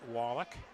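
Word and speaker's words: Woloch: Replaces Kyla Wallach. With Kyla and Natalia, it's spelled W-O-L-O-C-H, pronounced Wallach.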